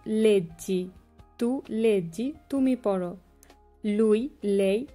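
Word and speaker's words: leggete: তু লেজ্জি। তু লেজ্জি তুমি পড়ো। লুই লেই লেজ্জে। লুই লেই লেজ্জে। এখানে লুই হচ্ছে পুরুষ এবং লেই হচ্ছে মহিলা। লুই লেই লেজ্জে। নই লেজ্জামো। নই লেজ্জামো আমরা পড়ি। বই লেজ্জেতে তোমরা পড়ো।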